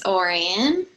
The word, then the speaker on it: Orian: We have next Orian. Is that right? Perfectly pronounced. It's Orian.